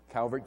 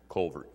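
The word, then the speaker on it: Calvert: going to live there in Louisville it's like Calbert County no Culvert County but that's an a you're but to pronounce u Culvert anyhow in the uh in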